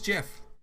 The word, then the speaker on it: GIF: Just like giraffe and gist, it is GIF.